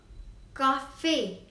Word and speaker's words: café: Next is le café. You can see on E there is accent aigu, so it is pronounced as a. Le café.